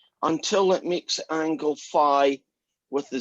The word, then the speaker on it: phi: this thing upwards until it makes the angle phi with the Z axis. So this guy is R, this guy is theta, and this guy, does anybody know what that Greek letter is called? Is that phi?